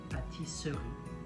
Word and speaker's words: pâtisserie: Pâtisserie, it's written pâtisserie, okay, pâtisserie, but there's a letter E that you don't pronounce, and it's going to be the same.